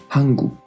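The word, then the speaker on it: 한국: Y al final también una K, hanguk.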